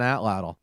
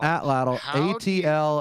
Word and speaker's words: atlatl: Although she has talked about hunting with an atlatl.